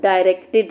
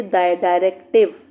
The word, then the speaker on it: directed: This is section A that is called directed writing. Now sometimes students when they when they pronounce this they say directive. No you must be clear about it. This is not directive. This is directed.